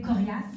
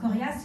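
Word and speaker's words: Koriass: Il y a aussi ici au Québec Corias, ça s'écrit K-O-R-I-A-2-S.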